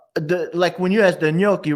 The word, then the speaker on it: gnocchi: Or like when you ask the gnocchi, right? People be like ganaki. I'll be like, yo, get out of here, man.